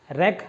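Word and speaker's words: wreck: रैक, रैक रुक, उसको pronounce जो भी करते हो ठीक है, अपन रेक करना, ठीक है, WREK रेक, ठीक है।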